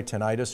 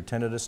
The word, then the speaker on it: tinnitus: that kind of sense in their ears anyway, tinnitus or tinnitus, depending on how you pronounce it.